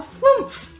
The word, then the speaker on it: flumph: Oh, well, my race is called a flumph. And he slowly starts drifting downwards. Cause we make this noise. How would you spell that? F-L-U-M-P-H. Flump.